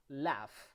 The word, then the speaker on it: laugh: produces a sound normally that sound is like the letter f like when you say enough like when you say tough when you cough or when you laugh okay in that case